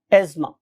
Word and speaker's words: asthma: यानी कि अगर आप सही प्रोनाउंसिएशन सीखेंगे तो ये एज़मा है, लेकिन बहुत से लोग इसको एज़मा और बहुत से लोग इसको जोर लगा के एस्थमा भी कहते हैं, but true pronunciation is एज़मा, right.